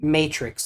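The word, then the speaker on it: Maytrix: Did you say Matrix like the movie or Natrix with an N? Matrix, like the movie. Okay, I just wanted to make sure I heard you right. Spelled like this, though. Like the season of May and then Trix.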